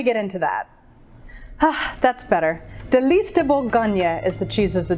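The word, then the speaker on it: Délice de Bourgogne: Delice De Bourgogne is the cheese of the day, and if that pronunciation scares you, fear not, Delice is fine.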